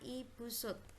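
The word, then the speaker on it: Ibu Soed: ini ada Ibu Sud tulisannya Ibu sweet ya tapi membacanya Ibu Sud ibu supini sebagai Hai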